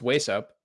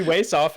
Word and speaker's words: wAesoph: about it too yeah technically like it was meant to be pronounced waist up but it doesn't make any sense that the h is silent so everyone calls me waist off and i'm like that's probably better just call me that yeah yeah yeah that's